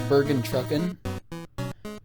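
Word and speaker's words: Bergentrückung: Fun fact, I actually thought that Bergentrucken, well, I'm pretty sure it's pronounced Bergentrucken, but I did not know it was spelt with an ung.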